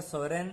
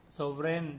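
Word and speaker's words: sovereign: और इसको जब प्रोनाउंसिएशन करेंगे आप, सोवरेन जैसे पढ़ने में ऐसा आता तो सोवरन ऐसा पढ़ना है, सोवरन सोवरन इस तरह से, सोवरन socialist secular democratic Republic.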